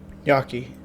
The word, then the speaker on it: gnocchi: It's pronounced Gnocchi.